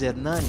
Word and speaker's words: Hernani: My name is Hernani, and there's really no equivalent in English.